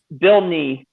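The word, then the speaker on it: Nighy: yep bill knee bill need me that's how you pronounce it yeah i believe that's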